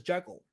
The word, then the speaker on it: Jekyll: Like I naturally pronounce it as Jekyll, but somehow that's how it was pronounced when it was written by Robert Louis Stevenson. It was pronounced Jekyll. As KSS said earlier, he's Scottish, so he pronounced it with a Scottish accent, and that's how it's pronounced. But it's not spelled that